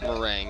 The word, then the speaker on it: Maringue: It's Maringue Lane. It's pronounced Meringue, but he's telling you to take Lesbo's.